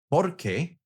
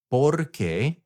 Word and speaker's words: porque: accent on the E, porque, then that means because. And there is a tiny little bit of a difference on how you pronounce them. The question one is ¿por qué? The because is porque.